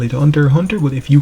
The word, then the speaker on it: Hunter x Hunter: yes I know guys some persons like to pronounce the X but I don't really pronounce the X I just call it Hunter Hunter but if you call it Hunter x Hunter like you would do